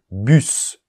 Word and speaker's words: bus: mais c'est une exception bus on prononce le S chair on prononce le